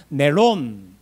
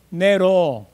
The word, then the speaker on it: 네론: 그건 뭐냐면 원래적 발음을 해요. 네론. 발음이 안 되는 서 뭐라 그럴까요? 네로. 그래. 그럼 네로 하면 뭐가 빠져요? 니언이 빠지죠.